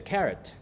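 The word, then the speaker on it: caret: like the vegetables because they didn't know it's a different word but it's pronounced the same.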